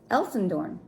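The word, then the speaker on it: Elsendoorn: No, that's how you say it. Elsendorn. He's Norwegian. He's a Norwegian dude.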